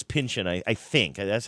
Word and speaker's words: Pynchon: I always say his name wrong. Pynchon. It's no, the is it Pynchon? It's Pynchon.